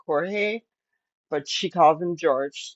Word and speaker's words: Jorge: Now, George is spelt Jorge, kind of like Jorge, but she calls him George, so we'll call him that.